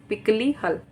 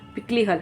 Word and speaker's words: पिकलीहल: Option A Utnur, option B पलवाय, option C पिकलीहल, sorry pronunciation गलत, पिकलीहल, हाँ।